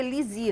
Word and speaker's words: Lizzi: Então, chama, pronuncia Lisi, na verdade, né, que tem esse esse que é francesinho.